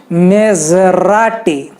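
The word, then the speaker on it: Maserati: फिर मेजराटी, ज होता है उसमें, ज नहीं होता, ज, मेजराटी, ओके, मेजराटी।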